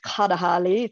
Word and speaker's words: Kalahari: And if you go into Namibia, then it's pronounced Kadahali.